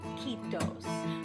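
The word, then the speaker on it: kiitos: about one of these in Finland they say ketos remember it rhymes with mosquitoes if Mandarin is what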